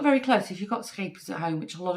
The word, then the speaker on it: Scheepjes: This is actually from a Dutch brand, Scheepjes, is how you pronounce it, Scheepjes, which actually means little ships, and it's actually their logo.